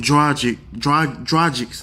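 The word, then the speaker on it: Dragić: The Heat, on paper, they look stacked with Wade, Whiteside, Dang, Joe Johnson, and Goran Dragic.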